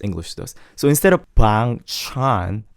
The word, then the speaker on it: Bang Chan: Instead of bang chan, it's like bang chan, bang chan. Just say it like you don't care. bang chan, bang chan. Kind of like that. Just I'm nonchalant.